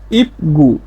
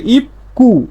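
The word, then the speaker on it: 입구: দেখি স্বাভাবিক উচ্চারণ হচ্ছে ইপগু, ইপগু, কিন্তু এর সঠিক উচ্চারণ হচ্ছে ইপকু, ইপকু।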